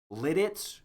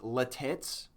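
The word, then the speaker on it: Lititz: There's Blue Ball, Intercourse, Virginville, Fruitville, Paradise, Birden Hand, Litz, which people sometimes mispronounce as Latitz.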